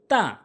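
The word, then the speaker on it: ت: এবার হচ্ছে 3 নম্বর হরফ তা। তা হচ্ছে জিহ্বার আগাটা, একটু মনোযোগ সহকারে খেয়াল করবেন। জিহ্বার আগাটা সামনে 2টি দাঁতের গোড়াতে লাগাবেন এই তা উচ্চারণ করতে, তাহলে তা সহি উচ্চারণ হবে।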